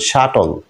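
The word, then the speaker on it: subtle: important একটা শব্দ আছে যেটাতে বি অবশ্যই সাইলেন্ট থাকবে যেমন শাটল শাটল সূক্ষ শাটল ইউ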